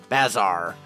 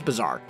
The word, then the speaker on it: bazaar: at the Grand Bazaar Bazar however you pronounce it I really need to figure out how you pronounce that work I think that word I think it's bizarre I'm pretty sure it's bizarre but anyway what I